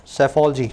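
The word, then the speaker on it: psephology: इसको बोलते हैं सर saifology ठीक है स्पेलिंग देख लेना लास्ट शुरू हो रहा है पी से पी बोलना नहीं जाता साइलेंट होता है सैफ अली जी दूसरा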